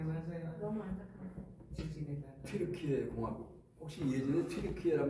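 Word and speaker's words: Türkiye: 튀르키예 공화국. 이게 튀르키예가 뭐지? 그래서 찾아봤습니다. 근데 수도가 앙카라가 나와요. 앙카라? 터키인데? 그래서 찾아보니까 영국식 발음, 미국식 발음은 터키고 원래 자기네 튀르키예 말로 하는 튀르키예랍니다.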